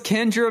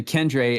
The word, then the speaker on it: Kendre: He goes Kendra Miller. I correct him to Kendre, and then he goes Kendre Mueller.